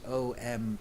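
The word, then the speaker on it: ॐ: supreme sound combination actually it's often written like this om dot but actually it is three syllables you M don't so R is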